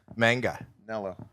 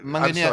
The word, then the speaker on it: Manganiello: Manganello.